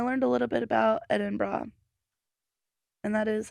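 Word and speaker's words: Edinburgh: pronounce idenburg in Scotland so you say it it eidenberg that's oh is that how you say it no how did you is that how you originally said it yeah is that what you thought it was don't so it's apparently pronounced edin bra edin bra three syllables edin bra I think I've heard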